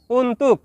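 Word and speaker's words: untuk: শব্দটি লেখার ক্ষেত্রে লিখতে হয় উন্তুক, তবে এর সঠিক উচ্চারণ হবে উন্তু।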